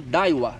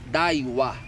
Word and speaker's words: Daiwa: Conjuntinho Daiwa com Fishing Tour.